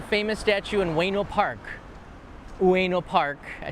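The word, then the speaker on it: Ueno: and there's a famous statue in weno park weno park I said it right that's how you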